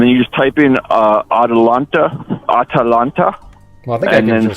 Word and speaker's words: Atalanta: It's almost like spelled like Atlanta. Okay, what's the name of it? The ship again? It's Atalanta. Chewbacca? No, it's like Atlanta with an extra A.